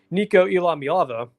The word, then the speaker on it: Iamaleava: But Nico Iamaleava, the player, let me race to that because I think I said his last name wrong. Nico Iamaleava, there we go.